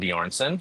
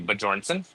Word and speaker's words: Bjornson: My name is Bjornson. You did say it right, by the way, yeah. which is very surprising. It's usually Bjornson.